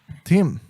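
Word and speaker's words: Tzim: I don't care how it's spelled. It's still pronounced Tim.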